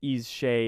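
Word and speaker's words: Aos Sí: Awassi are a supernatural race dwelling in the otherworld of Irish and Scottish mythology, pronounced Ease Shay in Irish Gaelic, with Shea referring to the fairy mounds or hollow hills that serve as entrances to their realm.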